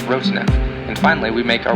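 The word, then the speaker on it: Rotanev: The brightest star in Delphinus is pronounced Roteneb.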